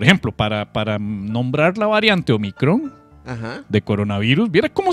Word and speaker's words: Omicron: vara, pero por ejemplo, para nombrar la variante Omicron, ajá, de coronavirus, viera cómo se les ha hecho un mundo esto a los gringos para pronunciar la puta palabra. No pueden decir Omicron. Es Omicron.